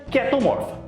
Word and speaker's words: Chaetomorpha: Se escreve chaetomorfa, mas se pronuncia ketomorfa.